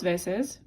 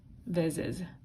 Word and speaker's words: veces: Dos veces. When vez is plural, the Z changes to a C. Dos veces. That keeps it more of an S sound.